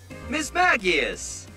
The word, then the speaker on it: Mismagius: Mismagius. A combination of mischief and magic. Mismagius. So where in the flippin' hell does the hard G sound come from?